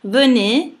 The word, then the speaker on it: venez: Venez, anche qui c'è una E muta all'interno della parola. Perché? Perché anche qui facendo una divisione in sillaba, ve, ne, è una E in cui non c'è accento, su cui non c'è l'accento, quindi non viene pronunciata, la dovete togliere.